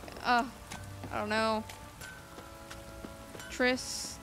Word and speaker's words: Triss: oh i don't know tris not trish all right i got you i got it i know how to pronounce tris now it just sounds weird